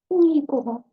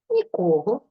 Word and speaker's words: нікого: будь-ким або будь-чим то ми ставимо наголос на першому складі нікого нічого нікому наприклад красно говорить а слухати нікому Якщо ж ми хочемо сказати про відсутність будь-кого чи будь-чого то ми наголос переносимо на другий склад нікого нічого нікому наприклад